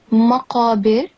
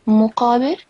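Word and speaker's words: مقابر: So, first of all, in the third verse, it's maqabir, but you said muqabir. So, meme has a fatha stroke, not a dhamma.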